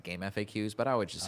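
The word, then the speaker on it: GameFAQs: supposed to be pronounced game FAQs but I would just say game facts absolutely it makes it makes sense when you realize what FAQ stands for right I just said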